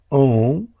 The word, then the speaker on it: Om: As we had discussed many times before, Om is the primordial sound. It's made up of 3 primordial sounds, A, O and Ma.